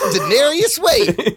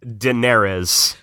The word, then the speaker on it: Daenerys: I'm Daenerys Wayne. I added a syllable to her name. I can't pronounce it. How are you supposed to say it again? Daenerys.